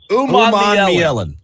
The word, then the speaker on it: Umanmielen: Umanmielen. I had to spell it out phonetically, David, so that I wouldn't mess it up today.